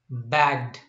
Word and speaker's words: bagged: and we pronounce this one bagged but the pronunciation of these two is i mean rubbed bagged what is that rubbed bagged okay yidi is